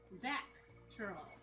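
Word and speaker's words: Xak Tural: Zach Tural. Yeah, X-A-K. Just think of that how you spell it, how you say the name Zach.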